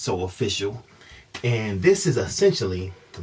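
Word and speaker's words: SO AW FA SU: soap which is pronounced so official it's the first two letters every word socially awkward s Oh aww FASS you pronounced so official and this is essentially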